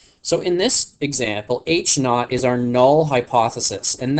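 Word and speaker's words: H₀: see that subscript 0 that's actually pronounced H naught so in this example H naught is our null hypothesis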